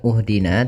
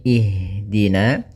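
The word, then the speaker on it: اهدنا: Ini adalah kita lihat huruf yang ketiganya. Apabila huruf ketiganya fat e maaf kasrah atau fathah, maka kita baca hamzah di awal hamzatul wasalnya itu kasrah. Maka kita baca di sini bukan uhdina tapi ihdina.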